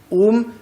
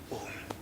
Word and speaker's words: Om: important behind the letter Om. And that is why pronouncing it as it's O nasal. One letter O in its nasal form.